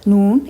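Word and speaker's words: نون: So when the tip of the tongue touches the area behind the upper two incisors, the gum area, or where the gum section meets the root of the incisors, that's when the Noon is pronounced.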